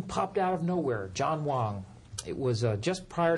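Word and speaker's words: Huang: a sudden name po out of nowhere John Wong it was uh just prior to the 96 El yes sir it's spelled hng but it's pronounced Wong uh a gentleman out of the West Coast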